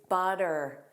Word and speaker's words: butter: One common word is butter. Butter, with that soft D, butter, butter.